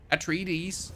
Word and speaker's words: Atreides: Atreides. Base set. I was told that I need to pronounce the deeds at the end of the Atreides, where I'm doing things wrong.